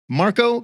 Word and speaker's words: Marco: got a hot take here here's his take Marco ketto which we just found out that's how he pronounces his name is the secret weapon on